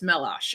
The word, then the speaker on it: Meloche: I always say Meloche, and I know that's wrong. I pronounce it, or I say it the way that it looks, and that's wrong. It's Meloche. I got it.